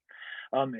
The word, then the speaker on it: Thy: It's spelled like the English word die, Thy, near the town of Tistel.